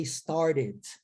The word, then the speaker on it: started: E no inglês americano, eu vou transformar esse T em R. Então, eu pronunciarei started. Started.